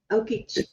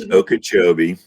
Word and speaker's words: Okeechobee: Okobee. It's Okachobee. So, here's how you know somebody's never lived in Florida. Don't know how to pronounce Okachchobee.